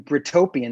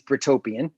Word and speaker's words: Britopian: mean i'm i'm well i'm brutopian that's how people don't know how to pronounce it it's britopian which is my handle yeah b-r-i-t-o-p-i-a-n on like